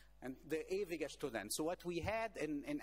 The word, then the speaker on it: Der Ewige Student: by the name of Der Ewige Student. I'm pronouncing it in German. And Der Ewige Student.